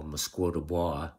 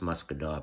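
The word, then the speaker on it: Musquodoboit: up to what people from away would call mosquito bar which is what I called it but it's actually pronounced muscador but so it was 60 kilometers of track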